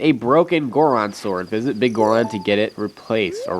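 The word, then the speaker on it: Biggoron: So I don't know how you're supposed to pronounce it, whether it's Big Goron or Bigoron. I say Bigoron for some reason.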